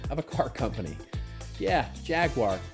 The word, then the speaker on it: Jaguar: Jaguar or Jaguar, if you pronounce it as those in the UK, might.